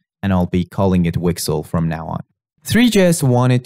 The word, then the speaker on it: WGSL: And in the case of WebGPU, this programming language is called WGSL, which is pronounced Wixle, and I'll be calling it Wixle from now on.